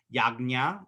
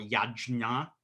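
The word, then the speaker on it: यज्ञ: word for that is yagna or yajna or my nepali pals always say yagya uh i like yagya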